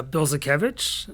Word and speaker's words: Bildzukewicz: out yeah it's uh bill zakovich I usually say like you build the zoo and like Kevin has an itch builds a kage easier